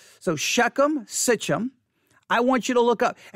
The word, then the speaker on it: Sichem: s i c h e m sichem s-i-c-h-e-m sichum however if you look up Genesis 12 6